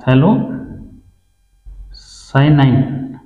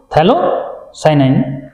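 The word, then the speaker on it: phthalocyanine: क्या ये है थैलो, हाँ थैलो साइनाइन, ठीक है, पी साइलेंट इसमें, ठीक है, थैलो साइनाइन, ठीक है।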